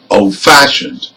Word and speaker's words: old-fashioned: again bad-tempered another example old-fashioned again this is an compound adjectives and we stress fashioned you can can also